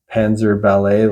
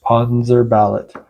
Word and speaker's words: Panzerballett: I thought the band might have been pronounced Panzerballett, like ballet, the dance style, but there's an extra T at the end.